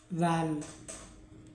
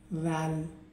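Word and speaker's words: ذال: জাল, জাল, জাল, ঠিক এভাবেই জাল উচ্চারণ হয়। তো জাল এর মাখরাজ কোথায়? জাল এর মাখরাজ হচ্ছে জিহ্বার ডগা।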